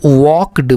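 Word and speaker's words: walked: यहां पर एल जो लगा है यह दोस्तों यह साइलेंट है। इसको हम वॉक्ड पढ़ते हैं।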